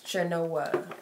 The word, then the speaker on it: Chenoa: How I pronounce my name, it's Chenoa. Like cha-cha, but Chenoa.